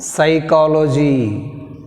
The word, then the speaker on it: psychology: Next one, another important, psychology. What is the word? Psychology. Psychiatrist. Psychology. Psychology. Which is silent? P. Not psychology. కొంతమంది psychology అంటారు, అది correct కాదు. Psychology. P silent.